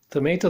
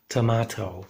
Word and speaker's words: tomato: Tomato, that's American pronunciation. In England, you would hear tomato, okay?